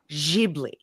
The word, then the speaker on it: Ghibli: But since they're not and since it comes from Miyazaki son's mouth himself, it's jibli or jibli.